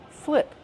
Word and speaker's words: flip: Flip. How do we pronounce flip? Flip. Use the short is sound like this is.